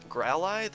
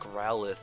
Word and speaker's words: Growlithe: how to pronounce it growl ID is what like my I don't know I guess high school English class would like to tell me it's pronounced but I feel like growlithe is the pronunciation that is always used in the games and anime so I don't know